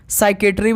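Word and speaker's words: psychiatry: जाएगा साइकोमेट्रिक ठीक है साइकेट्री बिल्कुल ठीक है और साइकोलॉजी बिल्कुल ठीक है पी साइलेंट होता है ओके चलिए दोस्त अगला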